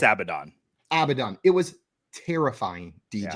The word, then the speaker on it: Abaddon: It's Abaddon.